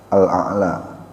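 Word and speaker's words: الأعلى: Jadi bukan ala bukan sabbihisma rabbikal ala atala bukan tapi aa jadi hamzahnya diucapkan dulu baru ada ain di situ yang dimatikan atau yang disukun ya yang diwakaf kalau kata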